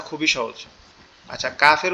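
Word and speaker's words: كاف: আচ্ছা, কাফের উচ্চারণটা বলে দেই। কাফটা হচ্ছে জিহ্বার আগা উপরের তালুর সঙ্গে লাগবে, জিহ্বার আগা উপরের তালুর সঙ্গে লাগবে, লেগে নর্মাল ভাবে উচ্চারণ হবে, একটু বাতাস বের হবে, কাফ কাফ কাফ।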